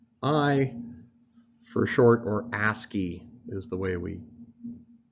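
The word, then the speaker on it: ASCII: a SC I I for a short or a ski is the way we pronounce it this was one of a number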